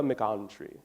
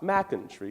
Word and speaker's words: McEntry: Now, I had a chum, and his name was Edgar McOntry. Not McIntree. You see, he preferred his accent on the on, McOntry.